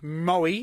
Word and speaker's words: Moe: Let's go down to Moe on Saturday. And You said it right this week. yes, If you remember last week, Yeah, you Mo.